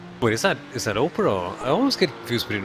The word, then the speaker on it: Oprah: a great name and I think it's more Oprah than oppra I I know I know